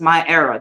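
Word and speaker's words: MyEra: So, My Era, this is And the name of my book is pronounced My Era.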